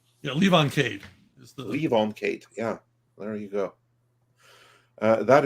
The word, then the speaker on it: Levon Cade: Did I pronounce that correctly? I've only seen it written. Yeah, Levon Cade is the Levon Cade.